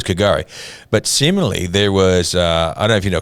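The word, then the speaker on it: K'gari: But Kagari. Yeah, Kagari. There you go. So it's Kagari.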